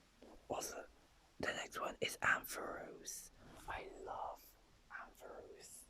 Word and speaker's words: Ampharos: I used to pronounce it Ampharos, but actually it's pronounced Ampharos. I actually like Ampharos better than Ampharos.